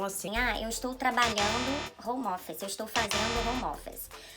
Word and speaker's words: home office: Falam geralmente home-office E não é home-office, você emenda o som do m com o e, como se você apagasse o E aqui e falasse "home office".